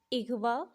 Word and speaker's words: اغوا: ہے اغوا اور اغوا۔ زیر اور زبر کا فرق ہے۔ پہلے والے میں الف کے نیچے زیر اغوا اور دوسرے والے میں الف کے اوپر زبر اغوا۔ تو اگر آپ جائزہ لیں تو آپ سوچیں کہ آپ کون سا لفظ بولتے ہیں؟ جی بالکل اغوا بولتے ہیں، جو کہ غلط ہے۔ اس کی اصل ادائیگی ہے اغوا۔ اور اب باری آتی